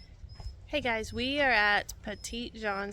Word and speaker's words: Petit Jean: guys we are at petite John state park I think that's how you say it in Arkansas so